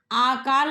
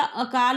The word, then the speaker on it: अकाल: आकाल नहीं होता अकाल होता है।